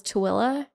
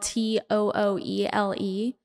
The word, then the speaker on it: Tooele: It's spelled Tooele. And it's just like, there's no way for you to get from that word to that pronunciation, like at all. Like, it's just not even possible.